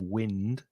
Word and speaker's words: wind: it's wind up now be careful of the pronunciation because obviously w-i-n-d is wind when it's of when it's a noun and the adjective windy there's a lot of wind but the verb has a different pronunciation to wind the vowel sound is I like I this is my I wind and if you wind